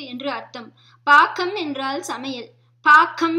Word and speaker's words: பாகம்: பாக்கம் என்று உச்சரிக்க வேண்டும், பாகம் இல்லை.